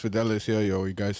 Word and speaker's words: Fidelis: just nah it's chill yeah so it's it's fidelis or ellis because some people can't pronounce for i don't know why it's